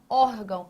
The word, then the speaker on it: órgão: órgão. A tonicidade está aqui, ou seja, não é na última sílaba, é nessa anterior.